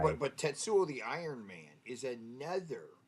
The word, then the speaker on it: Tetsuo: you're saying it wrong what it's just it's tetsuo not tetuo tetsuo tetsuo t just kind of just kind